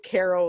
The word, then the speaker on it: Cairo: couldn't get us gabe it's caro like the syrup i get the feeling